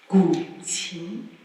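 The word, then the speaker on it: 古琴: So the first instrument I would like to present is this instrument called the gu qin. Do you want to try to pronounce it?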